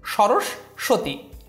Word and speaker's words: সরস্বতী: লেখা কিন্তু উচ্চারণের সময় এখানে তালব্যস বিবেচনা করে উচ্চারণটি করতে হবে সরস্বতী জিজ্ঞাসা জিজ্ঞাসা ক্ষুব্ধ এখানে খ রসুকার বধ ওকার